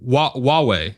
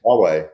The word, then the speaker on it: Huawei: Did I pronounce it Hawaii? Correctly? Like the islands? No. HUAWEI. Oh, Huawei. Huawei.